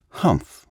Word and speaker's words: humph: said the scent fairy if you read the story aloud please pronounce humph exactly as it is spelled for that is how he said it humph do you know until